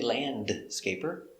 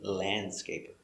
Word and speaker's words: landscaper: landscaper so remember landscaper the d is silent we don't say landscaper only landscaper let's practice is he a